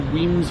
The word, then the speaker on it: Wemyss: accurate our Carriage to weams Bay awaits weams spell w e m y SS yes they do spell it a bit weird around here but hey love Scotland